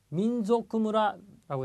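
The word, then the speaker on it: 民族村: 민족구무라라고 나와 있습니다. 자, 이렇게 소에 탁점이 찍혀져 있는 조 발음을 가끔 이렇게 약하게 소로 발음을 하시는 분들이 꽤 계시는 것 같아요. 자, 민족구입니다. 조쿠. 그래서 좀 느끼하게 발음을 해주십시오.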